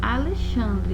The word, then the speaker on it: Alexandre: nós temos exemplos aqui da palavra Alexandre né escreve-se com x que tem som de ch tô terceira a palavra